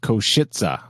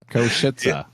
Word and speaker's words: Košice: And apparently that's pronounced Košice. I listened to about 500 times, and yeah, it does sound like that. Košice.